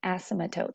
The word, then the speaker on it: asymptote: There's also this unique characteristic about it called an asymptote. That's a weird word right there. Asymptote. The P is silent.